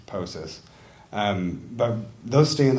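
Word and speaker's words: POCIS: put out passive Samplers the acronym is pronounced poses um but those stay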